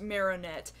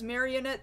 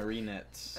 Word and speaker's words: Marinette: name to indicate that you might notice it's just Marinette uh it would make sense if it was marionette but it does not appear that that's how her name is spelled Marinette Marinette Chang she's half